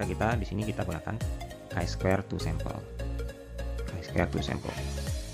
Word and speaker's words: chi-square: Kalau orang Indonesia bahasanya uji chi kuadrat. Tapi sebenarnya yang dibaca adalah chi-square ya, chi-square test. Jadi dibacanya seperti itu.